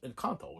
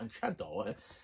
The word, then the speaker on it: Encanto: He 2 videos later, and he's finally like, oh yes, I was saying it wrong. It was Encanto, not Enchanto.